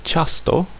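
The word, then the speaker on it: ciasto: It can soften some consonants as in the word chas which means a cake or dough or sound like the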